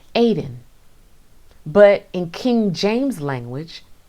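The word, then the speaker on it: עדן: heavenly bliss on earth in the hebrew tongue this place is pronounced aiden but in king james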